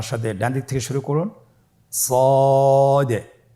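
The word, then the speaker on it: ص: মোটা হরফ উচ্চারণ ক্ষেত্রে মোটা করে পড়তে হবে এবং উচ্চারণ করার সময় তিন আলিফ টেনে পড়তে হবে। আপনারা আমার সাথে বলুন সদ আবার বলুন সদ।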